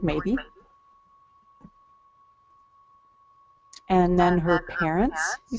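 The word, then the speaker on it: Maeby: a e b y sounds like the word maybe and then her parents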